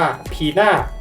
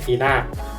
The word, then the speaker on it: Pina: ดี ข้อ ที่ 5 จาก ชื่อ ของ เธอ ที่ อ่าน ว่า พี่า ไม่ ใช่ หน้า ซึ่ง การ อ่าน ตัว